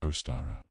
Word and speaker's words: Ostara: It's called Oara, pronounced Oara, and it's one of the most beautiful, hopeful days on the wheel of the year.